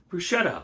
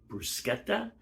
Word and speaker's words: bruschetta: delicious and that is bruschetta or brusketta I'm not sure the exact pronunciation I've heard it both ways I think the right way to say it is brusketta uh in Italian but don't hold me to that uh anyway uh very